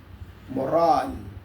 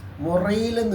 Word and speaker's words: morale: What is മൊറാൽ? ഇംഗ്ലീഷിൽ പറയുന്നത് മൊറാൽ, MORALE. മൊറയിലെന്ന് ഉച്ചരിക്കരുത്, അങ്ങനെയല്ല എൻ്റെ ഉച്ചാരണം. MORALE, മൊറാൽ.